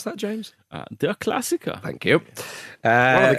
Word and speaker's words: Der Klassiker: Oh, how do the locals pronounce that, James? Der Klassiker.